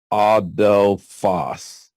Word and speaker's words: adelphos: although Foss is the Greek word for brother pronounced adelphos ah Del Foss Auto Foss